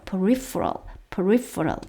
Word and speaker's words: peripheral: peripheral 요 부분이 F 발음입니다. peripheral 하면은요 주변적이다. 이게 예를 들어서 우리가 중추신경이 있고 말초신경이 있죠. 주변 그럴 때도 사용되는 단어입니다. peripheral 주변적인 측면 aspects of